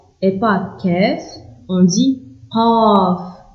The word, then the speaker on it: ق: Ghain, Fa, Fa, Qaf, et pas Kef, on dit Qaf. Ça doit venir de la gorge.